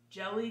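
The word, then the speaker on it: Djèlí: gin um i believe the author's name is p jelly clark is how you say it with the silent d i'm sorry if i'm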